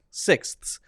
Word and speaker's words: sixths: to s s s so you're going from s to th to s six that's which is correct it's the right pronunciation and this is a